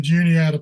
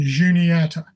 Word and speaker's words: Juniata: So this is where we get the pronunciation Juniata. The name translates to mean the standing stone people. Haga means people, so standing stone would be Juniata. Today we use the hard J sound, but originally it would have been Juniata.